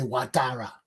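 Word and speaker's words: Ouattara: a foreign president alexey or atara i've internally pronounced his name the right way because i'm going to say watara rastava so they say they want to all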